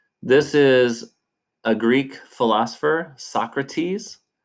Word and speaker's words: Socrates: Um, this is a Greek philosopher, Socrates, is how we pronounce his name in American English.